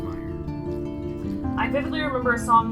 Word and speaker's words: Mayer: it's gonna be uh it's an e but it's pronounced Meyer I typically remember a